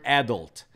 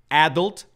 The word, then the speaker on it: adult: here to the word adult there are two possible pronunciations for this word adult or adult you can hear people saying adult you can hear people saying adult both are okay all right so your